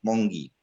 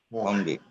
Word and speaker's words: Monge: Sí, por favor, Nitai Pada, perdón si pronuncio mal los nombres, adelante. Nitai Pada, Prabhu. Adelante, Prabhu. Buenos días, doctora Mongi. Monge, Monge.